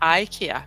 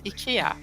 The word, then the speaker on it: IKEA: it comes to companies, so IKEA is not IKEA, it's IKEA. And the most European countries actually say it right, but the English-speaking ones say IKEA, and that's wrong, IKEA.